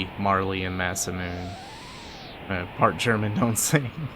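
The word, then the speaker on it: Mune: when Masa and moon because moon is spelled m-u-n-e as two different characters not Muna otherwise they would have said Muna um I'm sorry I'm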